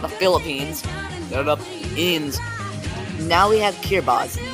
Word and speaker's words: Kiribati: Now we have Kiribati, not Kiribati like I thought. Yeah, that's how they say it.